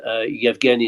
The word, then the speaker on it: Yevgeny: Yevgeny is a sort of alternative way of pronouncing that name in Ukrainian.